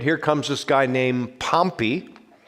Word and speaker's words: Pompey: comes this guy named pompey we sometimes pronounce him pompeii but pompeii is the official pronunciation of the city in italy pompeii the city that was destroyed by the volcano so pompey comes and